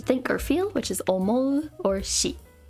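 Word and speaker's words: 思: which means every this is old which is pronounced foreign this is to think or feel which is omo or she this is a guess or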